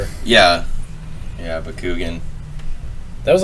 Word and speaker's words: Bakugan: boy we're on the right page Austin it's Bakugan it's clearly Bakugan anything else is nonsense moving